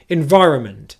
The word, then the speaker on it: environment: happen in english is you're either going to pronounce just the n sound and no vowel in that syllable so you'll get run run run or what you might hear is something like that n sound disappears all together so you're left with environment environment i'll get to